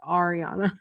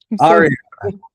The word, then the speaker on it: Ariana: I think we probably should have went over this first, but my name is pronounced Ariana. Ariana.